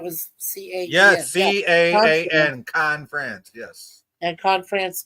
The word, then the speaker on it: Caen: proud of Was it Con or is it pronounced Kane? Because it's either way.